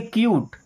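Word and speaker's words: cute: जैसे सी यू टी ई इसे पढ़ेंगे क्यूट।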